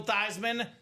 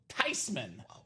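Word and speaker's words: Theismann: He was forever known as Joe Thyman and never Thsman again.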